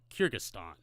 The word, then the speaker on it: Kyrgyzstan: It's spelled Kyrgyzstan. Kyrgyzstan.